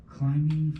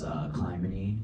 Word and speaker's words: Clymene: The next person I have on the list, now hopefully I pronounced it correctly, is, it looks like Climbing Fox.